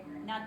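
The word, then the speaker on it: Knot: he's the doc Master his last name is not two it's spelled k n o t just one okay U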